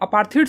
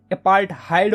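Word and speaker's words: apartheid: तो देखो यार साउथ अफ्रीका में ना यार अपार्थीड सिस्टम जो थी ना, अपार्थीड बोलो या फिर अपार्थहाइड बोलो, यार कुछ लोग इसको अपार्थीड बोलते हैं, कुछ लोग इसको अपार्थहाइड बोलते हैं, ठीक है। तो जो भी तुम्हें प्रोनाउंसिएशन सही लगता है यार वो बोलो तुम, ठीक है।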